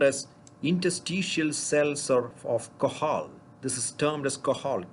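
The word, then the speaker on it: Cajal: they are called as interstitial cells are of qahal this is termed as qahal kaj al it's not not pronounced as kajam it is called interstitial cells of qahal so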